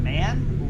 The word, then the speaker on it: MAN: So Pilot Bro asks, Nicholas, is it said man or is like MAN, like our GMC brand here? And Stabs is saying MAN officially, but it appears like most people are pronouncing it as man.